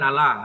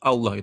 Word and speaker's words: Allah: kalau dari etimologi bahasa kalau muslim sendiri kan mengatakan Allah itu kan dia ee Tunggal ya karena pembacanya pun juga double l kan begitu sementara Nasrani mengambil kata Allah cuman membacanya dengan Allah doang tidak Dou l itu etimologi bahasanya dari